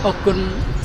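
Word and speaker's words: អរគុណ: Akun. Yeah, Akun Trang. How do you say it's Akun? Thank you. Yeah, but Akun. Akun Trang? Trang? How do you say? Okun, thank you very much.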